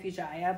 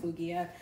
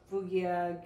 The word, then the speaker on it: Fueguia: actually it's called fugia I keep saying fua but I think it's pronounced fugia they're like a Brazil Patagonian